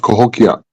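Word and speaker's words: Cahokia: Native American drag huh sorry go ahead it's pronounced kokia K there we go thank you uh the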